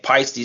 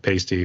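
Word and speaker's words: Paiste: I always laugh when people try to mispronounce pisty with pasty or something like that too do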